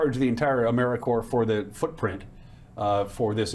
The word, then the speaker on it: AmeriCorps: AmeriCorps is alive and well, just spelled with a silent P. So, think of apple core or core of the earth.